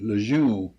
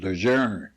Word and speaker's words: Lejeune: on the ship called everybody calls it lejeune actually the correct pronouncing is legerner you heard that before